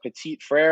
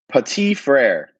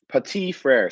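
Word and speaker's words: Petit-Frère: draft guide it is petite frere pati frere silent tea petite frere yeah so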